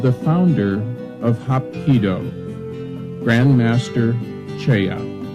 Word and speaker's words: Choi: founder of Hapkido, Grandmaster Cheya. His name is spelled as Choi in English, but pronounced Cheya in Korean.